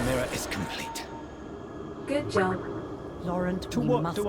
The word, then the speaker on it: Laurent: Oh, it's Laurent. I didn't think you'd pronounce the T.